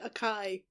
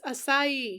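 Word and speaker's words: açaí: There was literally a pronunciation key on the last page and you said Akai. Whatever. It's Asai.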